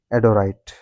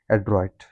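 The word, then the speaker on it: adroit: The next word is एडोराइट एडोरेट एड्रॉइड एड्रॉइड the pronunciation must be एड्रॉइड तो उसका मतलब क्या है?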